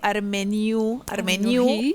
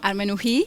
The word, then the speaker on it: Armenuhi: Y justamente aquí tenemos en nuestro living, y vamos a darle la bienvenida a la nieta de Armeniu, o como lo pronunció, Armenují, es en armenio.